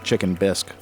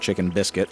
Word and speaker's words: Chicken Bisque: I named my channel Chicken Bisque, as in the soup bisque. I know I misspell it. It's not, my name's not Chicken Biscuit, it's Chicken Bisque.